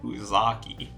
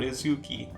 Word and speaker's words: Uzaki: next up we have hana uzaki said it right that time i said uzaki not uzuki uzaki anyway hana comes